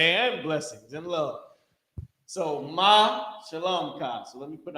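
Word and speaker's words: מה שלומך: So ma shalom ka. So let me put how you pronounce this. This is ma and this is shalom ka.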